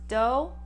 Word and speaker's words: Doe: Doe, last name pronounced Doe, like a deer, a doe, a female deer.